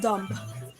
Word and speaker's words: dumb: preferable comfortable and vegetable bee must not be heard in doubt death and dumb both leave it out in the word psychology